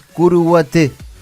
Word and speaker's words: Curuguaty: La forma correcta de pronunciarlo, tal cual lo hacen los paraguayos, es Curuguaté.